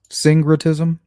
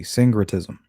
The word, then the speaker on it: syncretism: that right guys syncretism syncretism spelled with a c but it sounds like a g sangratism it's when you're mixing